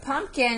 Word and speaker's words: pumpkin: p in there okay we may say it like this because we can't hear that p but there is a p in there pumpkin okay number two